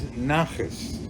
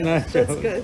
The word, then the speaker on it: nachas: the word for today is nachas, which Nachas. is I would Nachas. think you'd spell it N-A-C-H-E-S. Yes. Close enough. Sure. Not Okay. nachos, No, not nachos. but nachas.